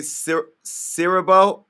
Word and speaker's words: Siriboe: and only uh kofi i want to say sir cyril did i get it right yeah you said